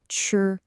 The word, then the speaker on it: 吃: The character is pronounced ch.